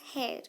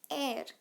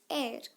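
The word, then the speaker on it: heir: Identity like property okay that is inherit air option number D air is similar to inherit now this is not pronounced as hair it is pronounced as air not hair it's air.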